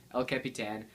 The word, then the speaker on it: El Capitan: alongside OSX, LC Capitan, is that what you pronounce it? Yeah, El Capitan and Watch OS 2.